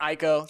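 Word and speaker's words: Ecco: uh e all right so Eco or ieko you know people pronounce it sometimes differently um but uh essentially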